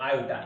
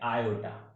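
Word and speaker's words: iota: देखिए स्टूडेंट्स, यहां पर ए विदाउट आयोटा, ये जो सिंबल है ना, इसको हम पढ़ रहे हैं आयोटा। समझ में आ गया, आयोटा प्रोनाउंसिएट करते हैं इसको।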